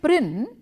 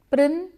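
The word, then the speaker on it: Prynne: the name of Hester prin the surname prin rhymes with sin prin sin I I know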